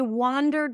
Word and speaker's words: wander: I wandered around the streets last night. Wander. That's an a sound. Wander. Wander. Wonder. Wander. So the one spelled with an O is a cup sound.